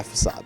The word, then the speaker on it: facade: use the move for facade yeah facade that's how it's pronounced the way facade works